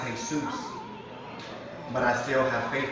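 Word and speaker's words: Jesús: Jesus to go harder not realizing the commands name is pronounced hay-soos but I still have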